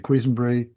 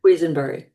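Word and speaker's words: Quesenbery: Um, how should you pronounce it? Queensbury. Quenbury.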